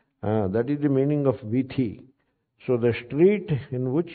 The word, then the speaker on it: वीथी: They pronounce whatever they pronounce. So vithi, they stopped pronouncing it as tha. In the entire Andhra Pradesh and Telangana, they are starting pronouncing it as vidhi.